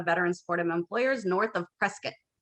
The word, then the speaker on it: Prescott: supportive employers north of prescott i said it right prescott prescott not prescott so we there is